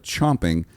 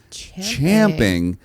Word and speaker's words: champing: sense even contextually speaking the original version is more refined instead of chomping champing is a more formal